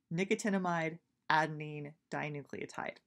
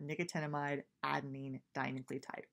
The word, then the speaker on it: nicotinamide adenine dinucleotide: in case you wanted to know how to pronounce this this is nicotinamide adenine dinucleotide there are often different ways to pronounce things that's how I'm gonna go ahead and do it is that nicotinamide adenine dinucleotide but we're gonna honestly just call it nad